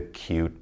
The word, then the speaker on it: cute: Long vowel I with a silent E. So listen to me as I say these. We've got plain, time, cape, hope, tube, bite, cute, and ripe. Never did I say the E because it's silent.